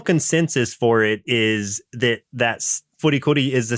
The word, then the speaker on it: FLCL: The title is intended to be pronounced Furikuri and not Flcl.